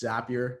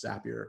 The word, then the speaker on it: Zapier: who are wondering its zapier not safe here my good little trick there is zapier it rhymes with happier that's how you pronounce